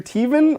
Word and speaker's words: Tevin: Thank you, either Tevin or Tevin. I'm going to go with Tevin. Thanks, Tevin's all Tevin. right. It's like Kevin. Rhymes with Kevin.